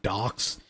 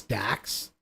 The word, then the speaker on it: Dax: to point out that it's not Docs. It's just how this shitty AI voice is pronouncing it. It's DAX. It actually sounds like D A X.